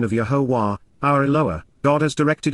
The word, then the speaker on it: Yahowah: benefits of the relationship, Asher, Yahowah, the proper pronunciation of Yahowah, our Eloah, God has directed in His Towrah